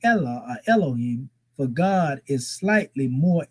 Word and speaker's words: Elohim: or Allah that is used, and this is pronounced as Allahim or Elohim, right?